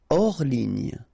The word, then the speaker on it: hors ligne: Hors ligne. Final here not pronounced, so ligne, and then here S is not pronounced, the final one, so hors, and remember H doesn't exist, so hors ligne.